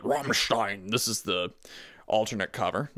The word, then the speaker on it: Rammstein: You gotta say it like the Germans would say it. Rammstein.